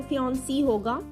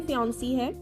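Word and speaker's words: fiancée: दोनों की प्रोनाउंसिएशन बिल्कुल सेम है, यानी आपने ये नहीं सोचना कि फीमेल फियांसी में डबल ई आ रहा है तो फियांसी होगा, बिल्कुल भी नहीं। ये सिर्फ लिखने के लिए फियांसी है, बट इसको प्रोनाउंस करेंगे तो ये फियांसे है, ठीक है।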